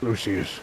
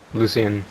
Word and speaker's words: Lucian: How do you say your name again? Lucius. Lucius. I'm so sorry. Lucian. Lucian. See, you were wrong, too.